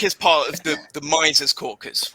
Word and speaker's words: Mises: different pronunciations of mises i've heard mises which is the correct one according to the germans mises which tom de lorenzo says my sees uh or maybe tom